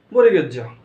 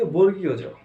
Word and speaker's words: বর্গীয় জ: তারপর এটা ঠিক আছে, এটাকে আমরা কি বলি বলো এবার, এটা কি বলি? এটাকে বলি আমরা বরিগেজ্য। এটা সাধারণত আমরা বরিগেজ্য উচ্চারণ করি, কিন্তু এটা বরিগেজ্য নয়, এটা হচ্ছে কি বর্গীয় জ। কি এটা? বর্গীয় জ। এটা বরিগেজ্য নয়, এখন থেকে আর বরিগেজ্য নয়, এখন থেকে বর্গীয় জ।